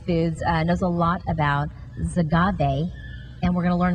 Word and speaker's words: Xagave: knows a lot about zagabe and we're going to learn about it this morning did I say that right you did agave with an X is pronounced with a z but we're talking about